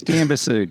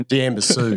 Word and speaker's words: Diamba Sud: Diamba Sud, yeah. Diamba Sud. Yeah. Oh, yeah. Or Sud, depends how you pronunciate it.